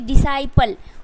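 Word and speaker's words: disciple: C, DC, D साई, CI से साई, PLE, डिसाइपल।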